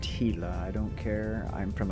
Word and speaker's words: Gila: specific Gila. Yes, I know it's pronounced Gila. I don't care. I'm from America. We pronounce our G's with a G.